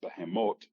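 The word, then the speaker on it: בהמות: Okay, in Hebrew, that's pronounced behemoth.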